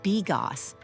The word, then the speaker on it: bigos: Pro tip, it's pronounced bigos, but honestly, after one bite, you won't care what it's called.